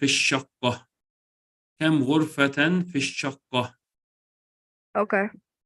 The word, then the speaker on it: الشقة: You don't pronounce the lam, so you say في الشقة.